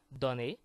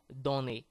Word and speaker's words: donner: So there are some situations like that in French where O will sound like A. So you will either find this small hat on top called accent circonflexe, or you will find words in which the O is followed by a double consonant, like the example I just gave you, donner.